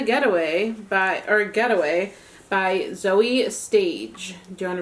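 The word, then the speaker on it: Zoje: by our getaway by zoe stage do you want to read the blurb inside the j is silent i messed that up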